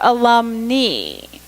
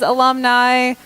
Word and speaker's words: alumni: a mixed group a mixed group then your alum knee so everybody pronounces that second line al um and I everybody says alumni you're only talking about women graduates there are